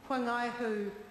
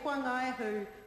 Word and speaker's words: Whangaihu: where she comes from to pronounce the WH as a wh, and I acknowledge that. It's difficult to unlearn things. So to say Whangaihu when I've always driven across it and over it and around it and pronounced it Whangaihu is something that I